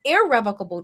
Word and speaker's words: irrevocable: contrasted that is an irrevocable trust I know people say revocable it's not revocable it's IR IR revocable that's the proper way to say it and what that